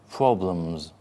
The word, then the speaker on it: problems: So the E in a two or more syllable word normally changes in the second syllable to A. Problems. Problems with a Z.